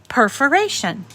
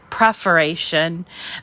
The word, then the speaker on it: perforation: actually typed in um perforation perforation if you spell it correctly i was i used to call it preferation um i don't know why but per it's p-e-r-f-o-r-a-t-i-o-n when you type that